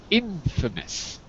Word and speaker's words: infamous: also Frankie the the the pronunciation of the second word is Infamous Infamous just so you know all right thanks